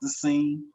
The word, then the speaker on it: THESCEN: No E on the end, but it's still pronounced The Scene.